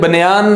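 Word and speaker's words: banyan: अगर आप यहां पे देखें तो ये आपके सामने बेनियन ट्री बना हुआ है। हम इसे बेनियन के स्पेलिंग्स यू लिखते हैं, आपने बनियान नहीं पढ़ना, इसको बेनियन ही पढ़ना है।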